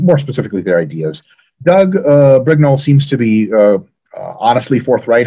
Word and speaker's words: Brignole: It is Brignole, yeah.